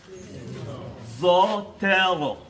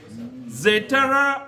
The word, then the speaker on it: Zotero: Zotero.